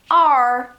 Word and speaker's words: are: Are. É o mesmo som da letra isolada.